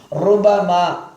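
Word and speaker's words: رُبَمَا: ருபமா ரு என்று கனமாக உச்சரிக்க வேண்டும்.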